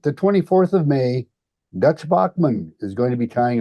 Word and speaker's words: Baughman: in his behalf yeah Dutch Bachman pronounced Bachman not Bowman like I did Dutch had to correct me back when F tying